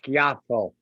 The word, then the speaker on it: Schiaffo: The pronunciation, official pronunciation, which nobody uses, is Schiaffo, but it's Schiaffo to most Americans.